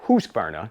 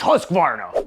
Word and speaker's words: Husqvarna: I pronounce it Husqvarna. It's Husqvarna. No, it's Husqvarna. Let's see what Google has to say. Husqvarna.